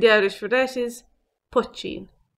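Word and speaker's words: poitín: And the Irish for that is put-cheen. You may hear that word pronounced a little bit different, a little like put-teen. Put-cheen, poteen.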